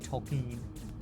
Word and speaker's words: Tolkien: The reason Tolkien didn't like Dune is like an analysis of why Tolken or Tolken, that's how you say his name, uh was not a fan of Dune kind of thing.